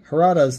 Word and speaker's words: Harada: You're pronouncing his name differently every time you say it. I've lost track of how many different ways you say it. It's Harada, and I'm sorry, okay?